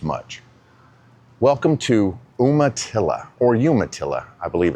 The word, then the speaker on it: Umatilla: Welcome to Umatilla, or Umatilla, I believe it's actually pronounced.